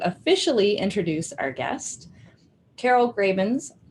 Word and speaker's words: Gravens: Now I would like to officially introduce our guest, Carol Gravens. I didn't ask you if that is how you pronounce your last name. That is how I pronounce it.